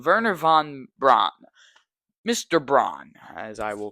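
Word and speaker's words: Wernher von Braun: a little bit and how German you pronounce your W's like a V, like Verer. And then I'm pretty sure uh they pronounced their V's like a F like a mixture of V's and Fs. So hopefully I'm pronouncing Verer von Braun, Mr.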